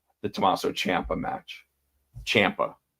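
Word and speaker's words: Ciampa: Champa. That's how Champa says it. So, say it say it right.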